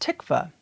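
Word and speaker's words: תקווה: The word that is commonly used is these Greek letters, which is pronounced tikva.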